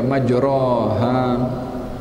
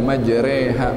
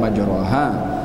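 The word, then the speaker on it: مجريها: waqu fiha Bismillahi maj Bukan dibaca maoha dalam Quran yang ada dengan kita bacanya majreha memang ada bacaan majraha tapi yang ada dalam Quran yang kita guna pakai dekat Asia ini adalah bacaannya majreha makanya ada tanda di situ imalah Itu kan majreha macam mana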